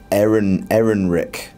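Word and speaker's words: Ehrenreich: How do you pronounce his name? Aaron Rick.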